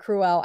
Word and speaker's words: Cruella: I'm sorry it's not Cruella I always wanted to say that and everybody's like no it's like cruel like you're being cruel cruel embroidered pillow see